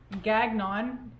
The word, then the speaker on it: Gagnon: His name is Tim Gagnon. It's actually Gagnon, but his name is pronounced it looks like it's Gagnon, G-A-G-N-O-N, but it's pronounced Gagnon.